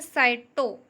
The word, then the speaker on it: cyto: उसका technical name है साइटो। Okay. आपको स्पेलिंग में देखना है CYTO, साइटो। साइटो का मीन्स होता है कोशिका। ठीक है, आप इसे साइको मत समझ लीजिएगा क्योंकि साइको का मतलब होता है पागल।